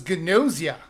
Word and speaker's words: Gnosia: game, by the way, he kept telling me I was saying it wrong, and it was Gnosia. I pointed him to the website I used to pronounce it. I thought it was weird, but I was right.